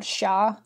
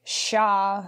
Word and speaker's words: siya: So there's, like, a gender-neutral third-person pronoun, sha. Uh-huh. You can tell me if I'm butchering the pronunciation, but it's S-I-Y-A.